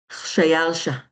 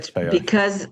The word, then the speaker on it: Khshayarsha: Okay, wait, how did you pronounce his name? Shayalsha. Okay, But Shayalsha.